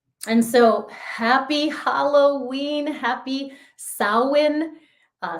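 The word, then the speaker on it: Samhain: and of Miracles and so happy Halloween happy sa uh spelled like it looks like Sam Hayne but it's pronounced SA happy post Eclipse wow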